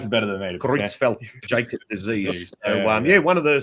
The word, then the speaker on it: Creutzfeldt-Jakob: So, you pronounce it better than me. Creutzfeldt-Jakob disease.